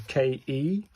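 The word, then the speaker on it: ケ: This is a KE, as in Kenneth, so it's a K, isn't it?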